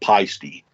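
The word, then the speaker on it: Paiste: Now, I pronounce it pasty, but a lot of people call it peisty.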